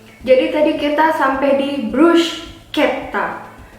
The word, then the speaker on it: bruschetta: Jadi tadi kita sampai di bruschetta. Karena ada CH, bacanya pakai K, jadi bruschetta. Ada penekanannya di situ. Bruschetta, double T.